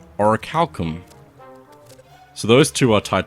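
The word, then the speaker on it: Orichalcum: It's pronounced oricalum.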